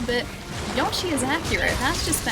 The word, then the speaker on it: Yoshi: No, Yoshi. Not Yashi. I say Yoshi with an O. Not Yashi with an A.